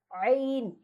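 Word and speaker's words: عين: এই যে আইন, এখানে সবচেয়ে কঠিন এটা, মানে মাখরাজ আরবি 29টা হরফের মাঝে সবচেয়ে কঠিন হলো এই যে আইনটা। এটা কি, এই ট্রিকটা হলো যে গলা চেপে বলার চেষ্টা করেন যে আয় আর সুদন্ত না আইন।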